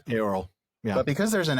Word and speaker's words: Eorl: modern word Earl, but I think it's actually pronounced more like Eorl. Eorl. Yeah. Yeah, it's not a diphthong like Eorl. It's they're not separate, but it's like they run together.